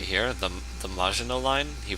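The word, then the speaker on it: Maginot: who pronounces this line right here, the the Majino line. He pronounces it as the Magio line, the Magio line, however, however it was he pronounced it.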